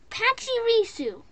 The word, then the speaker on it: Pachirisu: in my box of dictionary okay it's pacharicchu pachirisu pachirisu okay i am truly sorry about that